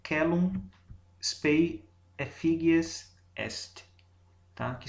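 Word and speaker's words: caelum: No latim, a letra C corresponde ao fonema que a gente pronuncia de forma oclusiva velar, assim, um K. Então a pronúncia aqui é celum spei effigies est, tá?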